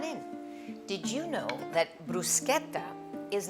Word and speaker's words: bruschetta: And first thing, let's talk about the pronunciation. Bruschetta, not bruschetta, please. I mean, Italians from all over the world will be really sending you bad vibes.